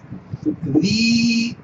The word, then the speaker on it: Didache: La Didache. Así como suena, acento en la G.